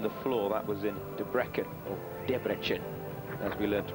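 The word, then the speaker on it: Debrecen: took gold on the floor that was in debrecken as we learned to pronounce it in hungary we're on the way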